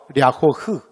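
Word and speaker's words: 辽河: 그런데 얘를 뭐라고 부르냐면 중국 애들은 얘를 랴호허라고 불러요. 됐죠? 근데 제가 아까 말했지만 제가 중국어를 못해서. 그런데 그냥 저처럼 중국어 모르는 사람이 옆에서 지나가면서 대충 듣잖아? 그러면 얘네들 발음하는 게 제 귀에는 뭐라고 들리냐면 흐 발음으로 들려요. 흐 발음. 그래서 강, 하천을 한국 사람들이 이렇게 지나가면서 들으면 발음이 약간 흐 발음으로 들리거든. 그래서 랴호흐.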